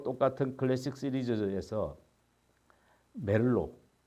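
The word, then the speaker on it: Merlot: 또 똑같은 클래식 시리즈에서 멜로 뭐 부르식으로 발음하면 티를 발음하지 않겠죠 멜로라고 하고 영어식으로 발음하면 뭘로 뭐 이렇게 되겠는데 뭘로나 이렇게 또 페룰루라는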